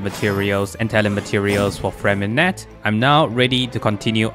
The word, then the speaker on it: Freminet: And I also just realized in the past few days that Freminet's name is actually called Freminet, not Freminet. So moving forward, I'm gonna call it with the correct pronunciation, which is Freminet, because I don't speak French.